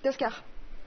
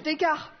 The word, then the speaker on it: Descartes: Descartes. C'est une mauvaise prononciation. Descartes.